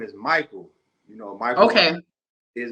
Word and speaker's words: Mikhael: learned out that Mikel is original name you pronounced Michael from the Ethiopian or um Arabic or even